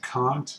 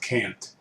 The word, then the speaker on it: Kant: kant and once again you pronounce his name kant not can't and um i i